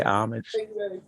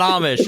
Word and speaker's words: homage: dress up to pay homage yeah is it Amish no it's not Amish it's it's Miss Pat listen to me very carefully here's how you say it homage homage yes homage homage